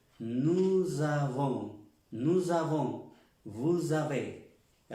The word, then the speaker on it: nous avons: Nous avons, recalcar la pronunciación aquí de esta S con esta A, nous avons, no nusa, no es nusa, nous avons.